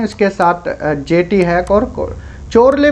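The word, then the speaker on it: Chorley: Hack और चोरले बोल सकते हो, कुछ भी इसको प्रोनाउंसिएशन कर सकते हो, वैसे चोरले हम यहाँ पर बोल रहे हैं।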